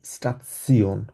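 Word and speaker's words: Station: স্টেশনকে ইংলিশে উচ্চারণের মানে বানানোর ক্ষেত্রে কিন্তু এক্স্যাক্টলি সেম, স্টেশন বলি আমরা, কিন্তু জার্মানি স্টেশন বলা হয় না, জার্মানিকে বলা হচ্ছে স্টাৎসিওন।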